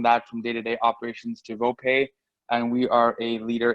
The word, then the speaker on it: VoPay: Is it VOPay or VOPay? How do you pronounce it?